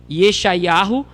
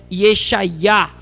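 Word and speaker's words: ישעיה: E aí nós vamos ter Isaías, que comumente o grupo do nome chama Yeshayahu, quando na realidade é Yeshayá, que nós vamos falar da questão do Iá daqui a pouco, tá certo?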